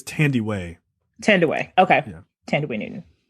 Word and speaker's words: Thandiwe: I think it's Thandiwe.